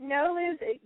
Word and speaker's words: NOLOSE: first let's start with no no loose okay am I saying it correctly yeah you are no lose it's a uh used